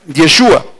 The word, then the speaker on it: Yeshua: es yeshua O sea la pronunciación está entre paréntesis yeshua pero yeshua vino a